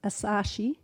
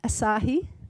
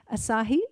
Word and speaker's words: Asahi: beverage giant giant ASAS I can't pronounce that asashi ASA Asahi thank you Glenn Asahi purchased sweps which had